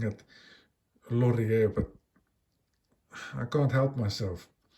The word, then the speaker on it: Lorier: There's the logo at 12 underneath, Lorier and automatic. Sorry, I should be pronouncing it Lorier, but I can't help myself.